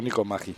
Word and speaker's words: Matji: ¿Es Nico Matji, Nico Matji o Nico Matji o cómo se dice? ¿Cuál es la pronunciación correcta? Ni yo lo sé. Pero siempre digo Nico Magi.